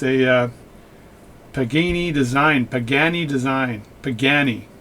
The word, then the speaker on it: Pagani: pagani design pagani design pagani my wife told me you know it's spelt pagani not beginning so you said all this beginning stuff but anyway pagani